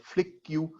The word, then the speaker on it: Flick: of a company called flick queue uh am i pronouncing it right karthik flick key or it's just like just flick flick that's flick uh the company calls company